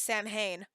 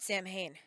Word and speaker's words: Samhain: talk about Salin and pronounce it very badly as Sam Hayne okay it's salad I know I know um they pronounce it Samhain in in that movie Donald pleason says Sam Hayne champagne uh-huh wow anyway